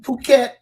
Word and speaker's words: Phuket: then Phuket and Bangkok, Thailand. Okay. Now, I don't know if you can see my It's screen, but spelled Phuket, right?